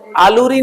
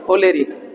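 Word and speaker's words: oleri: आलू है, आलू से ध्यान रखना, आलूरी नहीं है, उसी से थोड़ा बहुत लिख कर लेना ओलेरी।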